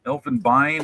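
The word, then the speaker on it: Elfenbein: Elfenbine I guess is how it's pronounced in German because you got the e i n and then ivory right next to it.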